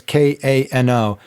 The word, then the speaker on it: Kano: It's called it's made by a company called I think it's pronounced Kano. It's Kano, and the product is Aerocroil.